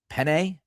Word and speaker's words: Pene: Last year, Makai Butler and Wilfried Pene, that's how you pronounce his last name, they actually earned active roster deals.